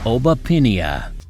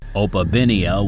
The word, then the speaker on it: Opabinia: Obapinia. I'm guessing this guy swapped the pronunciation of B with the pronunciation of P and it turns from opapinia to oapinia.